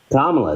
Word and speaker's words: Kamala: a better leader than how do you pronounce it Kamala I believe Kamala why is he going to be better than Kamala kamla there you go there you go because